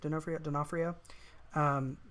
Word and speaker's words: D'Onofrio: Vincent D'Onofrio. Is that how you pronounce it? D'Onofrio.